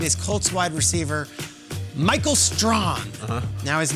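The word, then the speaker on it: Strachan: round pick it is colts wide receiver michael strong now his name is spelt strait chan like the hall of famer strahan with a c but it's pronounced strong and this was the past that i think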